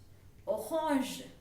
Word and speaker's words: orange: Orange. Orange. Okay. Orange. The spellings are same as you can see. The pronunciation is entirely different.